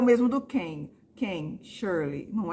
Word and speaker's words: King: coisas muito distintas Então não é Steven King é Steven quem o g também é quase quase muda é mudo né quem você não fala King se tiver quem adoro